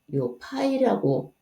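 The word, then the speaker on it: π: 다루어서 좀 특별하잖아 그래서 그리스 문자요 파이라고 읽고 어 요렇게 써요 요렇게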